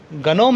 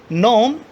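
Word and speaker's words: gnome: गनोम नहीं होता है, मैंने गनोम जानबूझ के बोला है। क्यों? ताकि आपको लगना चाहिए कि यहाँ पर एरर है। जी, जी यहाँ पर साइलेंट होगा। क्यों? क्योंकि एन से पहले जी है। तो प्रोनाउंस कैसे करोगे इसको? नोम, कॉलोन, बिनाइन, कैंपेन, शैम्पेन।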